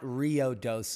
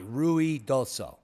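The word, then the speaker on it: Ruidoso: town of ruie Doo It's not Rio Doo as that uh reporter claimed it to be it's ruie R UI ruie Doo has nothing to do with the river so please get your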